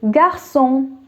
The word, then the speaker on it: garçon: Next one is garçon.